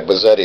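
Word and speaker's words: Buzzetti: Bazzetti, like spaghetti.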